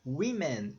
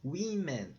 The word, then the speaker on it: women: Woman, o plural vai ser women, women. Mudou totalmente a pronúncia, tá?